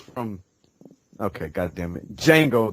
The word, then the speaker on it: Django: Okay, God damn it, Django. The D is silent.